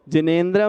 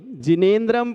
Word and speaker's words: जिनेंद्र: पढ़िए प्रथम अब देखिएगा ना में एक की मात्रा है एक की ऐ की मात्रा नहीं सो जिनेंद्र नहीं जिनेंद्र पढ़ने पर सही उच्चारण कर पाएंगे हम इस प्रकार भक्तावर